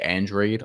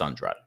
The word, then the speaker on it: Andrade: that the me Andrade and I'm calling him Andrade because that's really how you pronounce that name people can say andreid on the broadcast but it's a it's Andrade we got into this on the show earlier